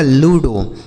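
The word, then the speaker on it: ludo: मात्रा लिखा डिमो आगे एल यू डी ओ यह लिखा गया दोस्तों आपका लूडो ठीक है लूडो जेड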